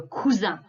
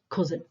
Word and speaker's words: cousin: you there we go as english but we say le cuz okay sometimes when we have spellings that are exactly the same as english we slip into our english pronunciation but we don't want to hear the cousin okay next one this